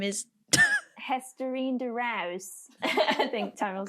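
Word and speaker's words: Hesterine de Reus: The Ajax coach, her name is Hesterine de Rouse. I think Tammy will say it better. Beautiful The pronunciation. Dutchie will say it better. Estherine de Reus.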